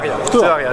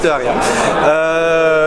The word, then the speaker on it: Tehuaria: Voilà, je me trouve avec Tehuaria, est-ce que je le prononce bien? Tehuaria, juste Tehuaria.